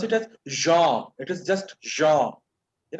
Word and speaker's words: genre: Many people pronounce it as genre, but it's genre.